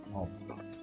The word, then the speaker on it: ohm: Ini bacanya ohm ya. Dibaca ohm.